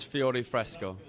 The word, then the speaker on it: Fiore Fresco: Yes, Fiore Fresco.